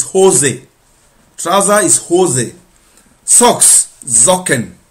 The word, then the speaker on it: Socken: Socks, socken. It's with S, but it's pronounced with like Z.